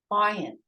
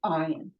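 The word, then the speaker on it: עין: Okay, ayin. Silent. Okay, there are two silent letters in Hebrew, the aleph and the ayin, but they're different.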